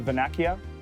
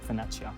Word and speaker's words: Vernaccia: The Vernaccia. I said it wrong. Vernaccia.